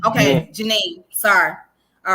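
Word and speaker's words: Djenné: You Okay, don't pronounce the Janine. D, it's Janine. Yeah. Okay, Janine.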